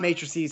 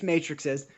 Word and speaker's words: matrixes: which I love and it's not matrices there's only one matrix so it's plural it's one matrix and there are plural movies so the correct way to say it is matrixes it he is so